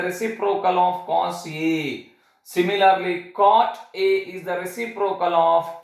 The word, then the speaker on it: cot: written as corti a you want to pronounce it as caught a this is regarding the